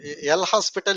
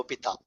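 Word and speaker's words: L'Hôpital: it is opal H you keep H as silent okay l o p a t a l opita okay don't pronounce this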